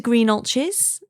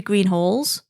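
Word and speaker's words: Greenhalgh's: I took him to Greenalches, which is not spelt with a ch, it's spelt with a GH, but we call it Greenalches, even though it should be Greenhalls, if you're pronouncing it right, but we're not, because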